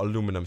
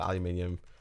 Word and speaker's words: aluminium: It's people in the UK call it aluminium. Some people else call it aluminum.